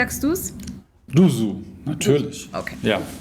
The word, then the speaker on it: doozzoo: In America some say do-zo or doozzoo because of the double os. Finally we say doozzoo. So you say doozzoo, Christoph, how do you say it? doozzoo, of course. "Was machst DU SO?"